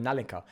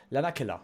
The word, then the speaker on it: Lanakila: I call it Nalinka. Lanakila. There we go. I was saying it wrong this whole time.